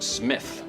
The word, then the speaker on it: Smythe: Carrington Smythe. It's pronounced Smith.